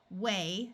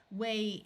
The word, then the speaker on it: whey: animal caught for food whey note the silent h again wey is an ingredient left